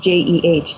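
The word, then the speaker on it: เจ: this diet um and the word is J like basically pronounced J J so if if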